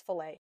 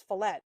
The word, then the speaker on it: fillet: And I go, "No, it's fillet." And he's like, "No, it's fillet." And boy, Sarah, she dies on a topic. I looked and I'm like, "No, it's fillet. It's a French word."